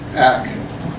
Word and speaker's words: ACT: get referred to act nobody I know pronounces it by the letters AC C instead coughing out the name act as though they've just